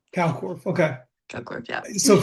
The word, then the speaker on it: Kalkwarf: It's Cockworth. Cockworth, okay.